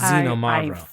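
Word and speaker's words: Xinomavro: particular called zenom mavro it starts with an X but it's xenom mavro was imagining that and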